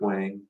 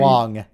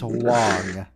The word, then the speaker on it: Wang: It's Garrett probably, Wong. Wong. Yeah, that's probably very correct. Big gun. That's how it's spelled. That's not how it's pronounced. It's Wong.